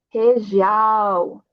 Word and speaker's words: região: Logo lembre, temos aqui uma R no início, então a pronúncia vai ser como uma J. Região, tá? E também uma G, que temos aqui, uma G vai ser como uma já, G, Joju, região.